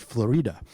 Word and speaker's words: Florida: I'm speaking in favor of Florida Ruffin Ridley, although I've been told on good authority that she actually pronounced it Florida.